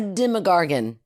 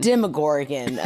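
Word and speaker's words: Demogorgon: I need three more it's got to start with a Derma right not Derma a demagorgon demagorgon demorgan okay demorgan dergan in some places that's how they say it no it's not I know oh my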